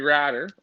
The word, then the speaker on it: Ratter: Well, when I was doing the show earlier, we picked Henry Ratter, rhymes with ladder.